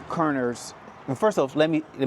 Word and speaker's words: Körner: And so, can you the certain the name Kerner's first off, let me let me say, am I saying it right? Right. Ker.